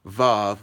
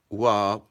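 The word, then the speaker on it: waw: The third vowel letter is the, now on this flashcard, unfortunately, it says vav, but the correct pronunciation would be wab.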